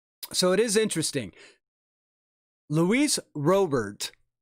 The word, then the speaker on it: Robert: a lot of people that thought it was pronounced real bear because they thought it was uh um spanish and he said no it's robert um there's an albies a muncie cal ripken